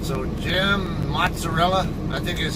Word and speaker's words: mozzarella: always o and then when you have two consonants of the same letter like two Z's or two G's whatever it it has a longer sound it's uh so mozzarella versus mozarella um so that's the